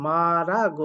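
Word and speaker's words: 말하고: গোইত মানে চলমান মালহা মালহা যেটার উচ্চারণ হয় মারা গো ইসুনিদা মারা গো মা ঋউল উঠে যায় র আকারে রাউতের কাছে যায় র আকারে রা গারে গো মারা গো ইসুমনিদা অর্থাৎ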